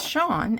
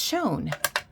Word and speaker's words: shone: You know, recently I've been hearing newscasters pronounce Shawn, S-H-O-N-E, as shown. But to me, shown is S-H-O-W-N.